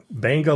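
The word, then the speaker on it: Beqa: We recently took a dive trip to Fiji, Banga Lagoon. Even though it's spelled B-E-Q-A, it's pronounced Banga by the local Fijians.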